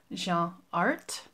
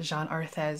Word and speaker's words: Jeanne Arthes: a while has told me that it's actually pronounced Jean art so I'll try to remember that it's Jean art and not Jean arthas because I've been saying arthas for a while